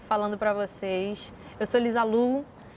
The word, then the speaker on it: Liza Lou: TikTok, eu Lisa Lou, tudo eu, Lisalu, Spotify, Lisa Lou, se escreve Low, mas se pronuncia Lu, Lisa Lu.